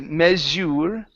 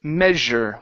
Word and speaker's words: measure: very good here uh the ending instead of meure it's measure with an e sound measure measure okay good um up